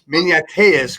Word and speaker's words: Maniateas: And this is Kelly Maniateas, correct?